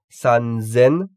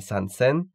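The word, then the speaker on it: 三千: Sen, nisen, sanzen avec un Z, yonsen, gosen, rokusen, nanasen, hassen et kyusen. Donc sanzen et non pas sansen et hassen avec un double S.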